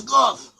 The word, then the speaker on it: Gad: But they have an ancient way of pronouncing Hebrew, and some of them pronounce the word Gad as Goth.